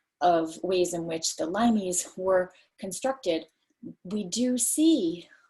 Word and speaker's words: limes: So it looks like limes, but it's pronounced limes.